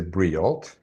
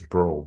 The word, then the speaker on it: Breault: So, and my name, a lot of people will say Breault That's because how I was they going to read pronounce it. it. But the real way is Bro, B-R-O, Bro.